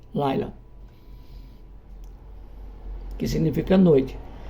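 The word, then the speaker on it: לילה: A pronúncia tanto no hebraico como no aramaico é a mesma, Laila, que significa noite.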